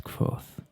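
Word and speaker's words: Kvothe: is smile broadened mine my name is quoth pronounced nearly the same as quoth names are important as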